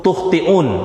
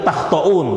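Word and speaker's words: تُخْطِئُونَ: Bidommit ta'i ala riwayatil masyhurati, dengan mendomahkan ta, ya, berarti tukhti'un, ya, sesuai dengan riwayat yang masyhur. Wa ruya bi fathiha wa fathit ta. Nah, di riwayat yang lain itu takhtaun bacanya.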